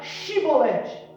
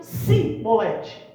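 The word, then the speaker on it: שיבולת: E aí aquele grupo de pessoas não conseguiam pronunciar corretamente a palavra Shibolete. E eles diziam Sibolete.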